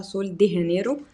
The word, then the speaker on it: Sol de Janeiro: البدي كريم ده من سول دي هنرو او سول دي جينيرو طبعا النطق الصح بتاع سول دي هانرو عشان هي بقى بالاسباني وكده وهو اسمه برازيليان بوم